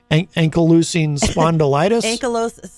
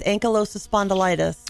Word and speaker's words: ankylosing spondylitis: It says here, Mars suffers from, how do you pronounce this again? Ankylosing spondylitis? I think it's ankylosing spondylitis.